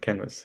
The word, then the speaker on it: Kenvas: So you pronounce it canvas.